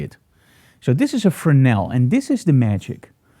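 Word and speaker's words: Fresnel: that I absolutely love a frenel remember the S is silent now a frel is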